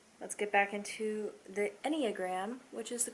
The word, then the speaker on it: enneagram: fun you know let's get back into the enneagram which is the correct pronunciation because i looked it up i am